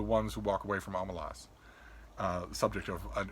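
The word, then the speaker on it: Omelas: and ursula leguin said i pronounce it omalas but you can pronounce it any way you like but she was she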